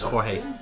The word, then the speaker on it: Jorge: Hey he's called Mike Jorge yeah thereabouts that looks like George it'sit's the Spanish for George but you're supposed to pronounce it as Jorge don't look at